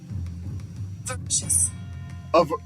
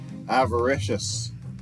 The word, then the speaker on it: avaricious: The A is pronounced.